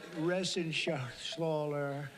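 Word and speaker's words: Reschenthaler: Ren Shaler you know that resen Sher he uh that's actually the way you pronounce it you know nobody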